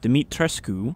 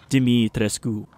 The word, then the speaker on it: Dimitrescu: so quickly ceremony site castle dimitrescu i think that's how you pronounce it i wasn't sure last time but looking at it it's just dimitriscu is this going to